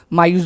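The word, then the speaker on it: majus: माजूस से स्पेल करते वक्त प्रोनाउंसिएशन करते वक्त उसको हम मायूस बुलाते हैं।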